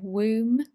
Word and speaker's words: womb: pain happens because the womb needs to get rid of its lining pronunciation here womb the b is silent get rid off to